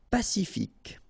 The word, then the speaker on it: pacifique: Pacifique. Q-U-E, K, ic. Pacifique. Potelé. Okay, here you don't really pronounce this E.